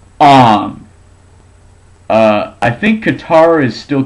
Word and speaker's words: Aang: In the movie, Aang is pronounced Aang.